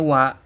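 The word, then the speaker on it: は: Jadi dia ditulis menggunakan huruf H hiragana ya, dalam hiragana. Tapi dibacanya wa, makanya sebutnya partikel wa ya.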